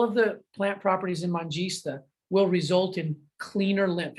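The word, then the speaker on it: Manjistha: Mangista is how you say this first herb, which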